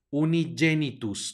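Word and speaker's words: unigenitum: del español aquí tenemos una G seguida una e va a sonar como y unigenitus no un ingenuitus sino unigenitus la siguiente palabra tenemos una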